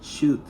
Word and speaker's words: should: el verbo modal si este verbo se pronuncia shut sin que pronunciamos la l su traducción va a